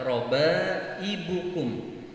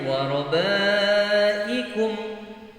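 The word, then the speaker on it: رَبَائِبُكُمُ: Ya, karena sering orang membaca tidak memperhatikan huruf ba ya, pada lafaz robaibukum. Mereka sering membacanya warobaikum ya, bukan ibukum.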